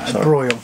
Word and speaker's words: broil: was boiling oh bro bro think broil b r o i l right it's your pronunciation